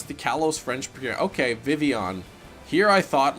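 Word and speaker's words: Vivillon: good we got the shiny Vivion which I'm just learning now is the correct pronunciation diss tracks back in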